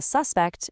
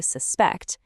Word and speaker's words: suspect: Then you've got word stress, the magic trick that turns a suspect into the action to suspect.